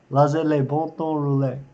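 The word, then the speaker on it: laissez les bons temps rouler: one Cajun French term, laissez les bon temps rouler, is I believe how you say it. It is, let the good times roll. Laissez les bon temps rouler. Yep, that's how you say it.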